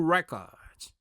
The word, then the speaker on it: records: 그렇기 때문에 항상 R로 시작할 때는 W가 있다 생각하고 입술을 내밀어주는 발음을 해주면 되겠습니다.